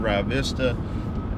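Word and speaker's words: Rio Vista: represent Cleburne and Grandview, Rye Vista. I say Rye Vista because I was raised down there. Is that the right way to say it?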